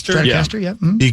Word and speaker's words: Stratocaster: Stratocaster, yep, yep.